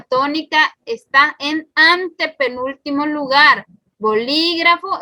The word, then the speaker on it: bolígrafo: Bolígrafo es un ejemplo. Vamos a ver, último, penúltimo, antepenúltimo. Entonces sí, es correcto.